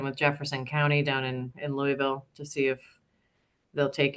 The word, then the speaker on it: Louisville: Kentucky, you need to know that Louisville is a single syllable. I can't say, I don't have enough mashed potatoes in my mouth to say it properly right now. Louisville, Louisville, Louisville.